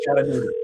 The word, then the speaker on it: Chattanooga: I said Chichanga and she said no. And I'm like Sonia and Chattanooga.